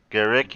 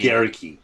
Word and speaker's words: Guericke: Is that how you pronounce it? Guericke. Guericke.